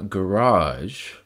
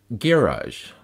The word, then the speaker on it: garage: pronounced in two ways garage with the emphasis on the first syllable and garage with the emphasis on the second syllable the difference is primary